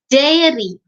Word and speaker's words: dairy: in the spelling itself and even in the pronunciation dairy a r sum comes before e dairy that's